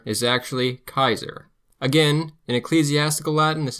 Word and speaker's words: Caesar: C is always hard, like a K sound, never an S or ch sound. Caesar is actually Kaiser.